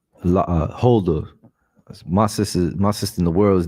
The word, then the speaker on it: Huldah: Her name is Huldah, right? Her name is Huldah. Salakia, can you get me the meaning of Huldah, Baba Kashar? Khan, you said Hilda? Huldah.